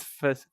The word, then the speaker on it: facade: Go try and redesign the up building, just the front facade. Facade? How do you say that word? Ooh, Facade? careful. Facade? How do you pronounce that?